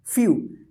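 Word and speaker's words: few: डब्लू रहेगा तो इसको जो है ना यू उच्चारण होता है यू यू क्या होता है यू इसी तरह से फ्यू एफ से फ तो ई लग गया तो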